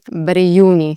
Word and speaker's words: Brijuni: And so if you remember the J really just sounds like a Y, then you'll be on the right track already. So here you'd say Brijuni. Brijuni National Park. Brijuni.